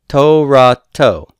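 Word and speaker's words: תורתו: Now, where is the stress going to be? Torato. The accent is on to. That's the tonic syllable.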